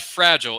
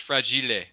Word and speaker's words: fragile: Just remember to pronounce that word right. It's not fragile. It's fragile. Yes, it's Italian.